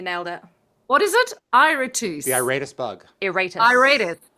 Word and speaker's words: Iratus: Despite my crappy Great pronunciation. job. No, you nailed it. You nailed it. What is it? Iratus.